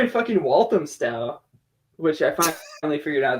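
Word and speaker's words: Walthamstow: yeah so you were in walam sty which I finally figured out that's how you pronounce it which is like far northeastern part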